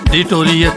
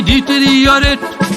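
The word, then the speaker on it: deteriorate: ভেবে নিয়ে ঠকাচ্ছ নিজেকে ডিটরিয়েট নয়রে ভাই ডিটেরিয়ারেট মানটা শিখে নিজেকে করো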